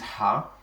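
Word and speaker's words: ح: Then the next one, which is Ha. Ha does not really have an English equivalent. It is pronounced this way, Ha, but it is one of the letters that come from the throat.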